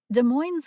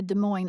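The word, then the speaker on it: Des Moines: speaker or other factors de Mo's Washington for example is usually pronounced by locals with the S at the end of the name as opposed to De Moine Iowa however officially at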